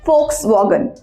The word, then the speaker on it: Volkswagen: it's not box volume on volkswagen it's actually folks wagon it's Fox : it act on German car